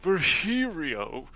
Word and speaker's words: Virgilio: It's pronounced Virgilio. That was pronounced virgin. No, I'm pretty sure it's Virgilio.